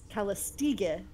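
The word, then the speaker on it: Callistege: did some digging, and apparently it is very, very similar to a Greek word, Calistiga, which is many beauties. And since she has multiple images, we have to, I mean, I really kind of think that the name is actually taken from the Greek word. Yeah. So it's a hard G.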